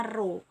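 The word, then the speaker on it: rho: tidak disimbolkan oleh huruf itu bukan huruf P ya tapi itu Euro bacanya roh bukan p jadi massa jenis itu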